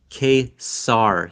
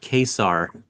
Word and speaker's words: Ka-Zar: Well, if you go by the pronunciation that Stanley wrote right on the cover of whatever that first appearance is in X-Men, it's Ka-Zar. Ka-Zar. But like quesadilla.